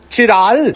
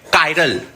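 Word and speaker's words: chiral: चिराल। अरे इडियट इसको चिराल नहीं पढ़ते हैं। कायरल molecules कायरल।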